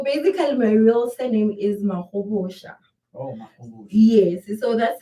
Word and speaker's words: Mahobotsha: yeah, so my surname currently is pronounced Mahobotsha.